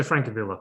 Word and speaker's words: Francavilla: Francavilla, is it? Francesco Francavilla.